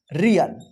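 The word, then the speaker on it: real: अब देखिए य पे रिल नहीं होगा इसको पढ़ेंगे रियल क्या पढ़ पढ़ेंगे रियल देखिए इस सभी को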